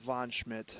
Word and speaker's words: Von Schmidt: How do you pronounce it? That's Von Schmidt. Von Schmidt.